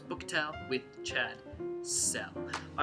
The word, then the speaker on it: Sell: It is book tell with Chad Cell. I know it's supposed to be book talk, but tell rhymes with cell, so that's how it's going.